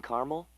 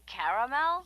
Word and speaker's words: caramel: I'd like it in caramel. Oh, the caramel? Yeah, that's what I said, Tina. Actually, you said caramel when it's pronounced caramel.